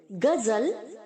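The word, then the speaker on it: guzzle: ग्रीमेसेस, ग्रीमेसिंग, गजल, गजल्ड, गजल्ड। हम लोग गीत को बोलते हैं ना गजल, वैसे ही हमें इसे प्रोनाउंस करना है, गजल, गजल्ड, गजल्ड।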